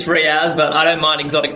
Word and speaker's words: Riaz: Now, did I get Riaz right, or is it Riaz? It's Riaz, but I don't mind exotic pronunciations, however you want to call it.